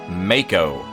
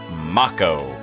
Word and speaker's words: Mako: Also, I don't care cuz they mispronounced Mako as Macco.